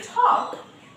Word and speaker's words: talk: And there are many words in English with this silent L, like we can say talk.